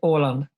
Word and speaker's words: Åland: I understand that it's pronounced Hollande, correct? Yes, Åland.